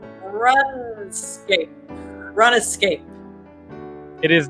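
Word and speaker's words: RuneScape: this game helped inspire dark souls escape run escape it is not rescape madam food i pronounce it the british way ghost um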